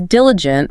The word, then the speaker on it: diligent: For diligent, focus on that rhythm. Diligent. Diligent.